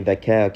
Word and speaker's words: Vacquer: So she was giving her sister shit about the name, and then Stephanie Vacquer came on and said, it's pronounced Vacquer.